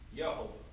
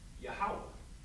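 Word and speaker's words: Yahweh: linear we see a word that says Jehovah or as they wrote it out yahovah right but we in the Israelite School practical knowledge we know this word is actually supposed supposed to be pronounced yahwah so the the inter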